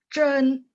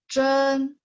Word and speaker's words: 真: Ingat Z baca C. Terus H-nya itu adalah tandanya lidahnya diangkat. Zhen sungguh. Zhen. Terus 15 A.